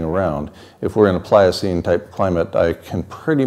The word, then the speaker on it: Pliocene: us from entering a Pliocene climate for example it's only three syllables Pliocene is the climate we had